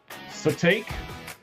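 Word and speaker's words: Sitake: Uh, Satake. His real name is Kilawa Kamalani. Oh, but he goes by Khalani Satakei, I guess.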